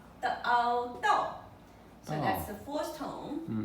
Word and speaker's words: 道: Okay, Dao. Okay. So Dao is proper pronunciation for the Chinese people.